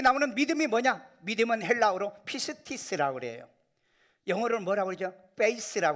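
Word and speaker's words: πίστις: 믿음은 헬라어로 피스티스라고 그래요. 영어로는 뭐라고 그러죠? 페이스라고 그러죠. 페이스. 네, 발음이 좀 강해서 용서하세요.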